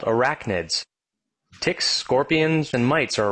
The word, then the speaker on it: arachnids: So I want you to say that word, arachnids. Let's clap it out. Arachnids, three syllables.